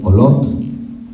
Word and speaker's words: Olot: tenía que probar el olotte Sí porque la en catalán las oves notónicas se pronuncian como UV resolución centro